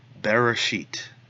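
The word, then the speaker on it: בְּרֵאשִׁית: the silent Aleph wrath then our final final syllable is the Sheen followed by the here a code and the Tov Bereshit the next word bara bait with a comets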